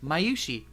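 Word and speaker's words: Mayushii: No, I know exactly how to pronounce it. No, at the we end, had it. Mayushi.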